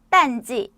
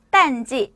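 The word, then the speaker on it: 淡季: 발음은 딴지, 발음은 딴지, 발음은 딴지.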